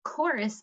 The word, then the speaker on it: chorus: a song together so chorus starts with ch so this is another sound whenever we do our